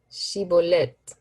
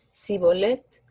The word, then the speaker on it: Shibolet: Si respondían que no, les pedían que dijeran Shibolet. Y si el fugitivo decía Sibolet, porque no podía pronunciar esa palabra correctamente, le echaban mano y lo degollaban junto a los vados del Jordán.